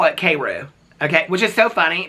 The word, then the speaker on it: Cairo: famous Town Cairo um but they call it kou okay which is so funny because here in